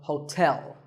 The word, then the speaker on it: hotel: number 12 is hotel there are two syllables ho and tell like the English word tell as in tell me the stress is on the second syllable so hotel a related word is